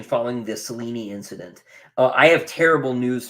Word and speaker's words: Selene: No, it's Cellini or Selene. It is not Celine. It is Selene or Cellini. Is the Greek pronunciation. 3 syllables.